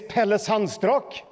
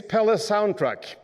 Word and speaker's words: Pelle Sandstrak: much sounds in my body my name is Pele sunstroke that's hard to pronounce in in English sounds struck neurodiversity neurodiversity